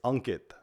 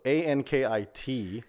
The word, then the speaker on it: Ankit: guy but why don't we say the exact pronunciation so it's unit unit unit so a n k i t so a lot of Americans say Ankit so